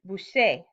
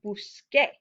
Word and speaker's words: busque: we conjugated this normally suddenly we have the pronunciation busee but we need to keep the pronunciation of buskar we need to keep that k sound we need it to be busque well what's another way